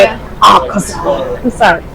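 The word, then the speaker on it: Akaza: Akasa.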